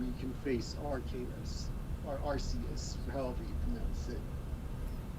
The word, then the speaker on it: Arceus: annoyed at first but went and looked up the actual pronunciation um and apparently it was uh the official one anyways is like Arceus or something but I still prefer to say RCS I just think it